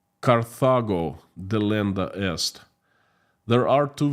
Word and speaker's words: Carthago: In Latin, it sounds Carthago delenda est, because the city was called Carthago, not Carthago is English pronunciation, but the Latin is Carthago, or even Carthago or something like that.